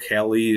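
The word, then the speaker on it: Kahle: And that's a K-A-H-L-E, kale it's called, Kali. There's different ways to pronounce it, but I do like the big gap.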